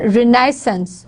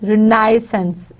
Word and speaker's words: renaissance: And it's on renaissance, re and lia. These are the two stress words. Now, in Britishers, it is on second syllable. Liaison, liaison. They are going to put stress on the second syllable, liaison, renaissance, renaissance. In Britishers, the stress is on renaissance.